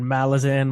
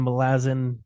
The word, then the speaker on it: Malazan: in the name like that's not how you pronounce it other than that I don't think anyone really cares I've heard malazin melasin Malazan it's not tolkien's uh linguistic ability behind it